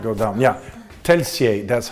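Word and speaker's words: Telšiai: Yeah, Telsiai, that's how you pronounce it.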